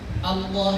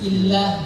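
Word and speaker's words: الله: Ada yang Allah tebal, Allah, ada yang bacanya tipis, illah.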